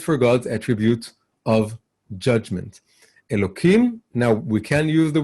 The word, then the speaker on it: Elokim: with an h but we pronounce it with the k uh as i said